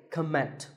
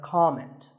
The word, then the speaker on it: comment: I have heard many speakers say comment. Now, whether you use this word as a noun or as a verb, the first syllable is always com. So it's never a comment, it's a comment.